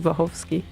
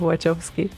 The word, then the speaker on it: Wachowski: You know, it's like Wachowski, but no one says that way anymore because they were raised in the US, I guess. Yeah. So, but they are pronounced in the whole Poland. They are pronounced Wachowski instead of Wachowski.